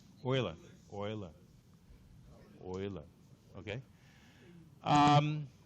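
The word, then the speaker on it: Euler: orer Oiler okay um EU is a dip tongue dip tongue a dip tongue is a made up variable made made up sorry vowel made up of two other vowels if you speak German correctly how do you say Europe in German EU where do you think o comes fromes okay so yeah that's what that's how you say Oiler is all right anyway so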